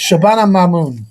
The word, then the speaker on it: Shabana Mahmood: What a moment for, I can never pronounce the name, I do apologise. Shabana Mahmood.